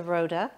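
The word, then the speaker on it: RØDE: a good microphone sound i actually purchased the rhoda but the story that i love about it so as i mentioned it's spelt r-o-d-e and the o has a line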